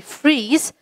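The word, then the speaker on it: frieze: r e e z freeze and freeze f r i e z now though they are pronounced the same their spelling changes so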